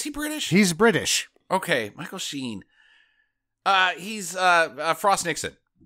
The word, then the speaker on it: Michael Sheen: she's Michael Sheen and Kate beckin sale's daughter Michael sheenan Michael sheen sheen his name is Michael Sheen